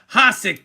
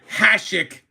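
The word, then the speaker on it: Hašek: Hik delivered or I'm sorry, Hashik, I know I said it wrong, delivered legendary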